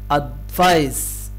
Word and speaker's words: advice: advice, advice. لاحظوا هنا إن السي بتنطق س س زي حرف السين كده.